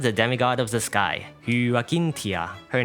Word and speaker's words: Hyacinthia: And one more time, Hyacinthia. Also, I think her nickname is actually just pronounced as Hyacinth since it's an anglicized form of her real name.